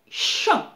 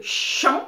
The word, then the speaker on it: champ: Uma palavra francesa que tem a mesma pronunciação, mais sentido diferente, por exemplo, é champ.